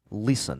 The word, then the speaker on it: listen: Listen. La lettre T ne se prononce pas, je dis listen.